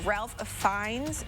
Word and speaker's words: Ralph Fiennes: After being called up from my coworkers, I'm told it's Ralph Fiennes who's in The Kingsman.